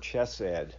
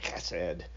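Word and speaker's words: chesed: it's a Hebrew word chessed or hassed if you want to pronounce it like a Hebrew and it's it points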